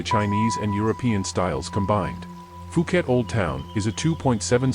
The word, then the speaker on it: Phuket: The island of Phuket, pronounced Phuket, is linked to the mainland by Sarasin Bridge